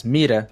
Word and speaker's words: mira: Mirá significa árvore ou madeira, mas mira significa gente.